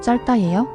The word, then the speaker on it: 짧다: 넓다 짧다를 예를 들면 겹받침 중 첫 번째 자음만 발음해요. 발음 그대로 쓰면 넓다 짧다예요.